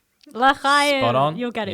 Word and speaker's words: L'chaim: L'chaim. L'chaim.